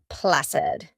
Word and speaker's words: placid: Our final word in this topic is placid. Placid with the s sound, the soft c.